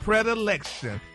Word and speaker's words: predilection: That's predilection. P-R-E-H-D-I-L-E-K. Oh, that's how you break it down. Oh, that's the pronunciation.